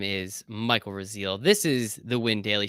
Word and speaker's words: Rasile: for the people listening, 2 weeks ago, Michael Raziel, who, in his defense, a lot of people mispronounce his name.